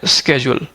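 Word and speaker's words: schedule: एक वर्ड है स्केड्यूल, right, कुछ लोग इसको शेड्यूल बोलते हैं, कुछ लोग इसको स्केड्यूल बोलते हैं।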